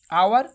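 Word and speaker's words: hour: আওয়ার উচ্চারণ কি? আবার ভাওয়েলের, তাই অ্যান বসবে এখানে।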